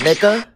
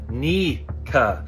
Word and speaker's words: Nika: It's pronounced Sun God Nika, like your knee.